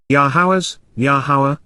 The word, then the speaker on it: Yahowah: person's perspective the ability to observe and respond yaha yahawa the proper pronunciation of the name of elower God has